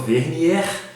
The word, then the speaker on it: Vernier: Estou hoje aqui com essa moça bonita do meu lado, que se chama Lilian Vernier, correto? Correto. Essa pronúncia meio francês, né, uma coisa bem chique.